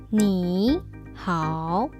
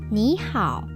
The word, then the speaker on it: 你好: 你好 That would sound very strange to a native speaker. So, how do we fix it? 你好 That sounds better.